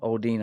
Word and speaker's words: Aldine: Aldine, I think is actually how he pronounces it.